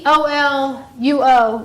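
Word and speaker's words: ἀπολύω: Apoluo with an accent on the O.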